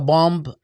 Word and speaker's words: bomb: our teaching today addresses who should America bomb or annex next, make Bomb? America genocidal again. Huh? Bomb, you don't pronounce the B at the end.